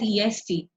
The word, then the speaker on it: est: from what is written if you see this is written as est but I'm pronouncing it as e please make sure you